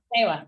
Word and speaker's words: SEWA: But I'm curious to know, in the SEWA project, SEWA, is that how you pronounce it? S-E-W? SEWA, yeah. SEWA, okay.